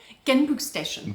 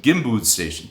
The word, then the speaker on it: Genbrugsstation: Genbrugsstation. Genbrugsstation.